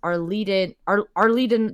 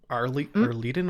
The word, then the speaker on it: Arliden: I've also made a note here that says Laura knew Kavoth's father as Arleden the Bard, which makes Kavoth very angry. I think I'd also made... Arleden or Arleden?